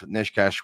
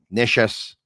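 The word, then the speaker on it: Nečas: Necas was Neches, I should say. That's a correct pronunciation, I was told.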